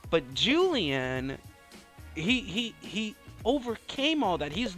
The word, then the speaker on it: Julien: made another another see I made another pronunciation mistake I call him Julianne and not Julian so for me that makes a huge difference so Jen and Julian